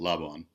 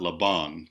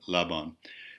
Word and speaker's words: Laban: So now we have and Rudolf von Laban, and so the accent, this Hungarian person's the accent on his last name is on the first syllable, Laban, not Laban, but Laban.